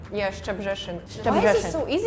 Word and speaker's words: Szczebrzeszyn: Szczebrzeszyn. Szczebrzeszyn. Yes. Szczebrzeszyn. What about you? Szczebrzeszyn. Yeah, Szczebrzeszyn.